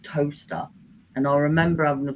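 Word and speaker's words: Towcester: My nearest town used to be somewhere called Toaster, and I remember having a phone call, and I was on the phone, and they were like, "You live in Tocester?" And I was like, "No, it's Toaster."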